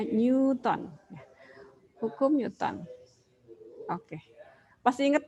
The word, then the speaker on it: Newton: bukan dia meong-meong on itu tulisannya tapi dibacanya Newton Hukum Newton Oke pasti